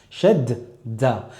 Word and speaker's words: shadda: Et l'insistance, c'est bien dans le fait qu'on va prononcer deux fois la lettre, une fois sakin, une fois non sakin, et pas dans le fait d'appuyer sur la lettre, comme on peut l'entendre des fois chez des débutants, qui disent shadda.